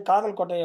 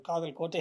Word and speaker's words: காதல் கோட்டை: காலையில ரிகர்சல் நடத்துவாங்க அப்ப அங்க இருந்த பெண் வந்து காதல் கோட்டை அப்படின்னு உச்சரிச்சாங்க இவர் எழுந்து நோ காதல் கோட்டை அப்படின்னு சொன்னாரு ஓகே ஓகே அப்படின்னு என்னுடைய மகள் கல்யாணத்துக்கு